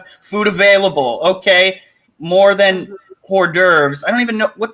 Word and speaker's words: hors d'oeuvres: Okay, more than hors d'oeuvres.